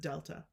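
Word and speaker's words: Δ: as you can see it's pronounced using just the word Delta so when you see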